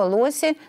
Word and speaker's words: лоси: Во множественном числе слово «лоси» начинает склоняться так, что во множественном числе это ударение будет на последнем слоге.